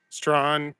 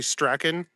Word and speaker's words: Strachan: Strawn UK would be Stracken. Yeah, I know. We pronounce it Strawn here for some reason.